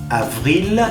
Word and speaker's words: avril: Avril, avril. Y atención, recuerden que la V no es lo mismo que la B. Es avril, porque en español decimos abril con la B grande, la B larga.